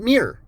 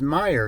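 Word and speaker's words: Meijer: it for me and he spelled it you know the way that Meyer spells the name and I told him I said it's Meyer and he goes oh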